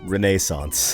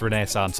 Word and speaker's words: Renaissance: And, of course, we learned that Renaissance can also be pronounced Renaissance. Or must also be pronounced Renaissance, apparently.